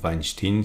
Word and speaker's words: Weinstein: sur les travaux de Stan Weinstein ou Weinstein si vous voulez le prononcer à l'américaine ou à l'allemande et l'idée c'est que